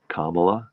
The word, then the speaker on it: Kamala: know how to pronounce Kamala yes it's Kama it's comma you begin with yes you begin with the word comma like the punctuation mark there's a nice video